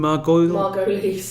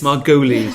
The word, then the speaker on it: Margolyes: You've also got, I can never pronounce this lady's name, Miriam Margolyes. Margolyes. That's finally after 20 years. Margolyes.